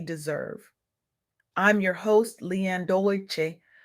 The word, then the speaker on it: Dolce: I'm your host Lianne Dolci, pronounced dose say like sweet softness whispered in French.